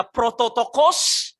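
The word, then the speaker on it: πρωτότοκος: Di situ ada cara membacanya prototokos.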